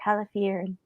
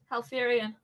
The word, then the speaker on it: Halifirien: the shades of dark Halifierin. Halifierin? Halfirian. Halfirian. Oh, okay. There's a silent I in there. It threw me off. Halfirian, by the borders of Gondor. I could be wrong. It's spelled Halifirien.